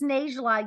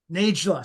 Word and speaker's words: Najla: And it's Najla. You say the J. Najla. Sorry. Yeah. Yeah, that's okay. Like I tell people, Naj rhymes with beige. So it's Najla, like Beigela.